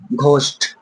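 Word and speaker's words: ghost: ও এস টি আমরা কি পড়বো এটাকে ঘোস্ট ইস্পাক স্পাগের ঠি ওকে এটা কি করবো ঘ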